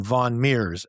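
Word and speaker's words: von Mieres: Myers became von Meers, and which is spelled lowercase von, and then capital Mieres. So it's kind of a play on Myers, von Meers, but it sounds more refined and arch.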